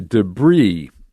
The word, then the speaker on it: debris: into the moon okay debris uh the s is not pronounced in english i don't know if